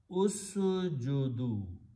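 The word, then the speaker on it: اسجدوا: Then you add a waw, which is called the waw of plural, and write down an alif which is not pronounced, and pronounced usjudu.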